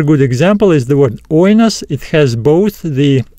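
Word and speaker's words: οἶνος: in the diphthong, but we still pronounce it as oinos. Oinos. So just remember that if the accent falls on the diphthong, it will be written above the second letter, but we still stress the first letter.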